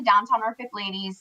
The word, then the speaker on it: Downtown NFK Ladies: Yeah, so I started the Downtown Norfolk Ladies. It's Downtown Norfolk Ladies, but it's spelled Downtown NFK Ladies.